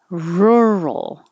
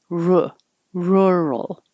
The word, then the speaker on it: rural: the v vapor enabler rural keep your tongue curled back and the vowel is more of an uh like took rural but there's no english letter to represent that uh sound girl is the same